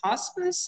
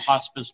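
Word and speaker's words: Hospes: I don't know if this is pronounced hospice. It's H-O-S-P-E-S.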